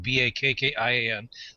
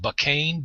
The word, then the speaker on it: Bakkian: I chose the Bakkian for mine, the Bakkian. I Googled it, I Yahoo searched it, I did everything. The name did not exist. I have people pronouncing it Bakkain, Bakkain. My grandfather thinks it's bacon.